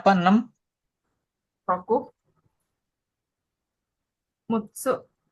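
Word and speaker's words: 六: Roku mutsu bacanya apa kanjinya?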